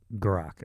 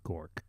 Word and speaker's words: Grock: Anyway, Grock, I'm sorry. He doesn't like to be called Gork because it rhymes with dork and he doesn't think that he's a dork.